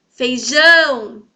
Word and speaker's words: feijão: Feijão. Perceberam? O jão, então, é a sílaba tônica. E ele está na última posição. É a última sílaba dessa palavrinha.